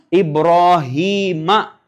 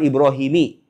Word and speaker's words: Ibrahim: Ibrahima. Bacanya Ibrahima bukan Ibrahimi.